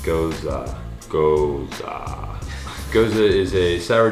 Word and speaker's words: Gose: A lot of people say Gose, G-O-S-E, but it's actually pronounced Goza.